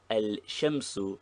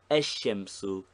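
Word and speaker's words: الشمس: Thus, al-qamaru is easy, but al-shamsu is never found, while ash-shamsu is easier to pronounce.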